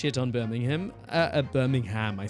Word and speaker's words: Birmingham: Uh, Birmingham. I said Birmingham. So, in in the British accent also, you don't, it's not like Birmingham, Alabama. It's Birmingham. Birmingham. You don't say the You don't say the H.